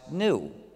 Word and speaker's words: gnu: actually though the word gnu is the most humor charged word in the english language because according to the dictionary it's pronounced new so every time you